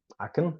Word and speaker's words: I can: very strange a can aen so I can tends to be pronounced aen I can wait for